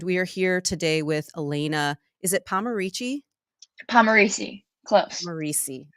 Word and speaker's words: Elana: ask you Elena how what kind of mispronunciations of your first name do you get a lot Eleanor was like all the subs that was that was a big one um Alana Alana too but like it's two